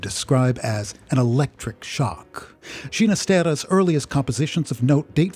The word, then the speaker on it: Ginastera: and an italian mother the soft g with which he would prefer to have his surname pronounced being a parental inheritance